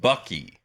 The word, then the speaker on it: Buc-ee's: It's pronounced Bucky.